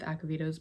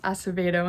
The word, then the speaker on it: Acevedo: i have read every single one of elizabeth akavito's books and all of them have been five